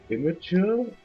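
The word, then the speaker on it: Imgur: jokes better on like inor and stuff entirely sure why I freak that website cuz it's a pretty terrible place I don't know depends apparently you're supposed to pronounce it like imager I know but that's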